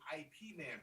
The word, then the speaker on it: Ip Man: Nina is yelling at us right now to say it's Ip Man, not IP Man.